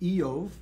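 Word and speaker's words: איוב: I-Y-O-V. Eov is Job. Eov in Hebrew, Job in English.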